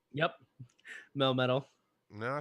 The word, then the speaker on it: Melmetal: Melmetal.